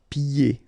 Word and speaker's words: pieds: Pieds. Okay, so you don't hear the D.